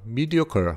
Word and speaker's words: mediocre: 자, 그 책이 자, mediocre 하면은 mediocre에서 희한하게 R인데 ER로 발음이 나요.